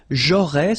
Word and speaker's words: j'aurais: J'aurais, so final S, not pronounced.